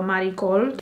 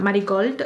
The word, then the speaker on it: Marigold: sephora in the style marikol why did i say it like that marigold it's muddy gold so eyes are done